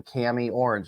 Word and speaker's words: Kami Orange: good good morning that's that is the correct pronunciation of your name Cami orange is that correct yummy orange yep now my